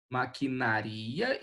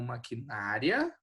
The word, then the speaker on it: maquinaria: Maquinaria e não maquinária, né? Como é que é isso aqui? Isso aqui é maquinaria, né? Maquinaria, o ri é separado do a.